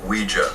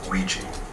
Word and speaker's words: Ouija: pretentious as hell Ouija board Ouija what it's pronounced Ouija not Ouiji and that doesn't really evate so the movie